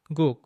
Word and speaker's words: 국: The word for soup, guk, has just one syllable, but it includes two consonant sounds, and both of those consonants are the same letter. If we write out the pronunciation of this word using the English alphabet, we take G, O, O, and then add another G, the same one we used at the beginning.